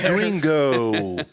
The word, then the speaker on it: gringo: The rare accepted gringo. I'm like, that. Roll your R a little bit, my guy.